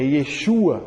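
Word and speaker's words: ישוע: Mas a pronúncia correta em hebraico é Yeshua ou Yeshua.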